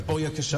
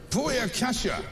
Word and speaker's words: Booyakasha: all dying out apparently Boya Kasha obviously Boya Kasha buya Kasha yes I think is how you say it